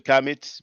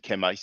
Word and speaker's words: Kemites: So he mentioned, you know, the Kamites. That's basically Kemites. That's just one way, one French way to pronounce it. You know, they use the Kamitte. All right, or they might add a S at the end.